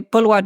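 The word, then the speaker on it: Boulware: I would say Bulwar is a ghost.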